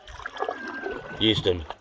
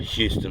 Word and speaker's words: Euston: They lived in Robinvale, Euston, and that's where the second lock is, Euston. Now I sat it's spelled E-U-S-T-O-N, Euston, not Houston like in Texas.